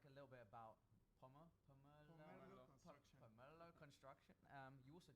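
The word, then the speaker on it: Pomerleau: Hey Aram, you're gonna have to help us pronounce Pomerlo. Pomerlo. Pomerlo.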